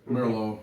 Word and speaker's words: Merlot: Merlot. Merlot. Merlot? It's Merlot? Not Merlot? Like the Merr sisters.